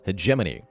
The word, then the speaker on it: Hegemony: Yes, that is how you pronounce that word, Hegemony.